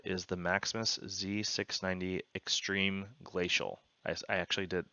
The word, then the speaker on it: Glacial: This motherboard is the Maximus Z690 Extreme Glacial. I actually did, I said this wrong over here. I spelled it wrong, pronounced it wrong, all of that. So it's Extreme Glacial, not Glacier.